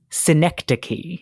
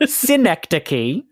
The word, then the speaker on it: synecdoche: That word is synecdoche. Synecdoche, yes. Spelled with a C-H-E.